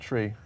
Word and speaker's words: trie: You know, some people pronounce it tree.